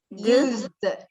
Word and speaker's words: used: And how would you pronounce that? With a t, d, or ed? Used. Used. With a d.